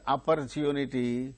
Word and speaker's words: opportunity: thank you for the opportunity No thank you for the opportunity No thank you for opportunity no because wherever the word opportunity occurs only the third syllable gains stress now move on to